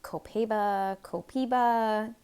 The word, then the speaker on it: Copaiba: lot of people even have a hard time pronouncing. Can you see that? It's been Copaeeeba, Copaeeeba.